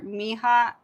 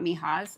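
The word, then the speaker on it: Nghia: These are Miha, not Mihas. Um, they are I think. I don't think you pronounce the the N. It's N G H I A.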